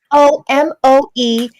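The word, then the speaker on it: Tomoe Ame: Tomoeame, and they're 2 words.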